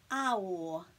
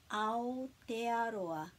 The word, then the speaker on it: Aotearoa: And then we put a break after each vowel. Aotearoa. Aotearoa, Aotearoa.